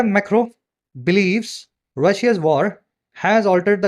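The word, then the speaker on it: Macron: है मैक्रोन मतलब लिखा जाता है मैक्रोन लेकिन फ्रेंच प्रशन में आता है मैक्रो है ना इसलिए मैक्रो मैक्रो बोल रहा हूं इनको फ्रेंच जो अगर लैंग्वेज में बोला जाए तो मैक्रो इनको सही प्रोनाउंस किया जाता है कजी एज फ्रांस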